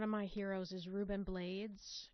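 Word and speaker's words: Rubén Blades: my heroes is Ruben blades he pronounces his last name that way so um I feel okay doing the same although I instinctively want to say blades but anyway you know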